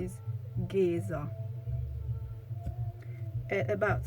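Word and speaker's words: Géza: called giza is mentioned so it's geezer not giza we have the word giza as well but this is a a city in egypt so his his pronunciation is geezer at about 7 minutes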